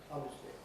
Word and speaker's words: obviously: many people these days none of the dictionaries are willing to record the fact that it's no longer pronounced of three with four s but obviously obviously in fact that goes through